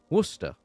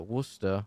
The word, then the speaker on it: Worcester: in a small City in the Midlands called Worcester or Worcestershire if you want to say the